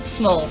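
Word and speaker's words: Smule: piano no no it's it's spelled small like s SM u l e oh um uh I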